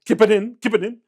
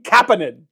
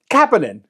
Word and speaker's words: Kapanen: It's Oliver Kapanen. Or some podcast, Kipanen. His name is fucking Kapanen, okay? It's Sammy Kapanen. It's his cousin or something like that. Or nephew, I don't know. Kapanen. Just say it right.